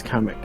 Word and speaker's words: Kamek: Oh, it's Kamek.